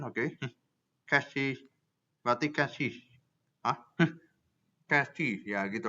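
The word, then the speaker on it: chassis: Kita butuh the S is silent, the third S is silent, oke. Cassis, berarti cassis.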